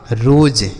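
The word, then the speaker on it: rose: जैसे आर से र, ओ का उच्चारण क्या होगा? ओ की मात्रा। और एस से हो गया ज, लास्ट में ई रहता है तो हम इसको नहीं पढ़ते हैं। हो गया आपका रोज।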